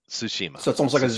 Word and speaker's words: Tsushima: intense and once again the way you pronounce that is the T and the S it's sistema Tsushima v it's like a TSU it's a Susheela Tsushima